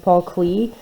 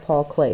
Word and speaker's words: Klee: here so paul clay a lot of people say think it's pronounced paul clee and i'm not sure but i think it's pronounced paul clay so i'm gonna go